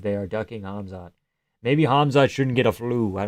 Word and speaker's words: Hamzat: There's this account on YouTube called Hazmat. I know how to pronounce it. Hamzat Boris Jamayev, that is a Hamzat fan account